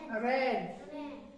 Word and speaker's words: reign: तो इसी तरह से मेलाइन है, MALIGN, मेलाइन, इसको मेलाइन पढ़ते हैं, यहाँ पे भी जी साइलेंट है। और इसी तरह से रेन, REIGN, रेन।